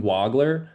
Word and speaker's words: Wagler: be calling him by the correct pronunciation of his last name, which is according to news outlets and sports media, it's Keaton Wagler.